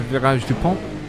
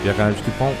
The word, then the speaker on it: Virage du Pont: Down into from Triple Gauche into Virage du Pont. And yes, you have to say it. You have to say it like that. It is French. Virage du Pont.